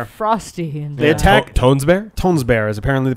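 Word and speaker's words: Tønsberg: they attack tones bear tones bear is apparently the pronunciation the G is the G is like really soft and almost silent about it was this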